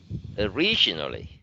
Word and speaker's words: originally: Originally. Nhưng mà không có trọng âm, nó đọc nhẹ thành ơ. Vì trọng âm nó nằm ở vần thứ hai là originally.